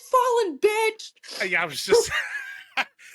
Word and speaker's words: Fallyn: like, by the way, it's fallen. Like, think of a fallen angel.